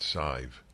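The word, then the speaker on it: Sidhbh: doctors what is it it's pronounced she's from Ireland Gallagher s-i-d-h-b-h but I think it's pronounced scive uses catchy videos with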